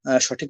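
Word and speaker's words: ث: তো উচ্চারণ করলে আপনারা সঠিক উচ্চারণ শিখতে পারবেন না। জি, এখন আমি সাটা পড়িয়ে দেবো 3 বার, এরপরে আপনারা বলবেন। আচ্ছা, জিহ্বাকে সামনের যে 2টা দাঁত আছে ওর সাথে মিলিয়ে হালকা করে ছেড়ে দিবেন।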